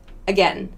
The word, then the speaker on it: again: like any other vowel another example this a in again again that sound again that's a schwa one more this e